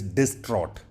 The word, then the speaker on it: distraught: bit more formal is distraught just be careful with the pronunciation let's run through with the spelling here d i s t r a u g h t distraught distraught and when you are distraught